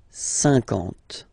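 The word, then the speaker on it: cinquante: Same thing here, okay, remember that you get this QU, but then you don't pronounce the U, and then you get the nasal, un, and then en, 50, 50, okay?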